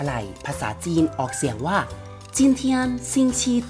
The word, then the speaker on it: 今天星期几: นี้ วัน อะไร ภาษา จีน ออก เสียง ว่า จิ้ม เทียน ซิง ชี ที่ จีน เทียน ซิง TG ก็ เรา จะ